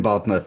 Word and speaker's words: Bodner: Tim Bodner. Am I pronouncing your name correctly? Got it. Tim Bodner, partner PWC and global real estate deals leader.